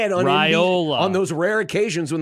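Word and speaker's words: Raiola: Tim Brando's brain to call him Rayola instead of Ryola. By the way. Bad take. No. It was Ryola. It was Dominic himself when he used to say it on Ryola.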